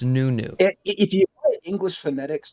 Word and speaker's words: Nuno: what he calls himself it's a portuguese name and as such it uses portuguese phonetics and it turns out the best way we can pronounce it in english is in fact new new so he's new yeah